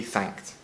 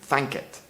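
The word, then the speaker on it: thankit: can translate to so let the lord be thanked and into spanish as asi que de mos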